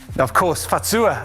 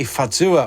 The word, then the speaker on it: Fazua: the first minutes that it comes from a bavarian saying say fatsuwa so it's pronounced a little bit different and it means just